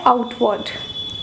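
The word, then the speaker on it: outward: ठीक, extrovert, extero होता है आउटवर्ड। ओके, अब मैं देखिए क्या बोल रही हूँ, आउटवर्ड, यहाँ पर भी R साइलेंट है।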